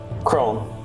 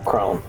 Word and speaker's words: Kron: Kron? How do you pronounce it? Crone. Crone. Yeah, Crone. Like- So, given the situation,